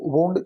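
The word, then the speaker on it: wound: वाउंड ही करते हैं, लेकिन जब वुंड होता है तो वुंड चोट पहुंचाने के कॉन्टेक्स्ट में यूज होता है, तो इसका जो प्रोनाउंसिएशन है वो वुंड होगा।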